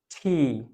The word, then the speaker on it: T: যে অল্প প্রাণ মহাপ্রাণ মানে ফুসফুস তাড়িত বাতাস একটু বেশি বের হয় ফয়ের মতো উচ্চারণ হয় এটাকে আমরা এতদিন কি বলতাম U.